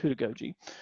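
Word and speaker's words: heutagogy: So with pedagogy, andragogy, and then there's this concept called hudagogy. So who, like WHO, that's how it's pronounced, hudagogy.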